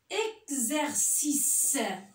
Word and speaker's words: exercice: Et des fois, le X se prononce Gz. Comme exagéré. Exercice.